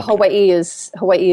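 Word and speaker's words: Hawaiʻi: is it's actually yeah if you're saying the really correct pronunciation the w sounds like a V so it's Havi uh but Hawaii is Hawaii is kind of what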